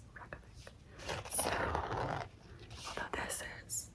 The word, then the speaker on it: Reykjavik: when I was actually there, they called it Reykjavik. But like everybody here says Reykjavik. So, although this is how you spell it, REYKJAVIK.